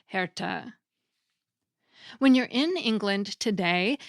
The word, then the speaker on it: herte: And many letters still had an E on the end that was pronounced too, so heart was spelled Herte and was pronounced something like Herta.